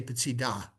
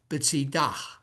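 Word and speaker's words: בצידה: But if you were really OCD about it, it's a mapik, it's a breath, p'tzidah, because the hey at the end of a word is silent. You put the dagish in the middle, and it's kind of like you're taking a breath.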